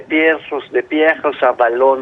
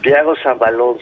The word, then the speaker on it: Pierre Rosanvallon: está en curso, el libro más reciente de Pierre Rosanvallon, lo trato de decir en francés, bien Ajá. pronunciado, Pierre Rosanvallon, se llama El siglo del populismo.